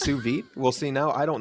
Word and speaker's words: sous vide: scott knows what a sous vide is uh definitely not i think i think it's pronounced su vidae sous vide oh it's pronounced suvi we'll see now i